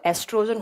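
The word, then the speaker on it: oestrogen: ओ ई आएगा। है ना? स्पेलिंग गलत हो गई थोड़ी सी। ओ ई ओ साइलेंट रहता है तो एस्ट्रोजन होता है।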